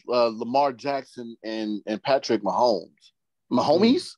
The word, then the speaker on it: Mahomes: Mahomes? Is that how you pronounce the name? Yeah, Patrick Mahomes. Or I call him Mahomes, so that's why.